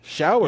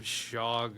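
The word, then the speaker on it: Shough: okay is is that how do you say his name shower yeah I I messed it up in like I think I collabed with somebody else I called him called him shog or some I I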